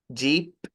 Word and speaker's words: jeep: Pero mire, cuando dice jeep, o sea, toda la palabra, yo veo sus hermosos dientes, Jocelyn. Y no debería verlos porque usted cierra los labios para pronunciar la P.